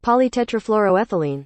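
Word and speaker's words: polytetrafluoroethylene: it poly tetraethylene I think something like that polytetrafluroethylene yeah that's right that's the right pronunciation Okay so it turns out that one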